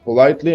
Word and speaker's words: politely: incredibly perfectly politely unhealthily so most of them are stressed on the first syllable but which three adverbs are not stressed on the first syllable of course incredibly politely and unhealthy easy right you and